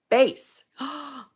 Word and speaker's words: Bez: my name pronunciation example Bez is pronounced as bass bass and Zed is pronounced as zad I think it's Z right like